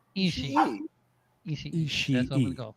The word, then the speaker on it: Ishii: Tomohiro Ishii. Yes. There's Ish, and then there's a E. Ishii.